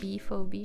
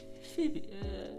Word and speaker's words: Phoebe: Phobie, je sais pas comment prononcer. Phoebe.